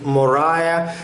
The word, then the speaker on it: Morya: two great Himalayan muscles Mahatma Morya or sometimes pronunciation is Mariah and the second one